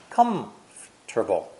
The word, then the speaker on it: comfortable: of the word comfortable pronounced as three syllables not four like this come Terkel come turbo come on turbo one syllable is missing and the R and T sounds are reversed don't be surprised this